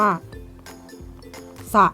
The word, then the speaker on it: สระ: เช่น คำ ว่า เช่น คำ ว่า สระ นะ คะ ก็ ออก เสียง ตัว อักษร เสือ ใช่ ไหม คะ แต่